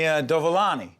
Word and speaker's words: Dovolani: Tony Dovalani.